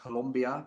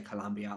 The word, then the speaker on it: Colombia: a U, Columbia, and I know I'm pronouncing it wrong. I know it's more like Colombia, but I say Colombia.